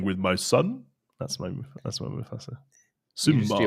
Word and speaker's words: Mufasa: Do I say it wrong? Mufasa. How do you say it? Mufasa. Yeah, I feel like that sounds right. I feel like you might